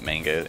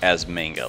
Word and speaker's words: manga: Like it's a word that has entered the English language as manga. Like people, I'm trying to think of another example, but it's like the English word for Japanese comics is manga and is pronounced that way, even though that's incorrect.